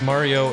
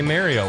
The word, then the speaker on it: Mario: of opinions, such as how to pronounce Mario if you're Canadian, which they say Mario up there. that's absolutely dog shit. I'm sorry. It is horrible. Because if you're from actually Jersey. Italian, they don't say Mario. They go Mario. They say Mario. It's Mario. Even the Japanese say it right.